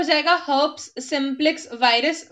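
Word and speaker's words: herpes: तो हर्प्स को काफी लोग मिस प्रोनाउंस करके हर्पीज हर्पीज बोलते हैं, ठीक है, बोल सकते हैं, लेकिन वो एसेंट डिफरेंट है, हमें इसको बोलना है हर्ब्स, ठीक है।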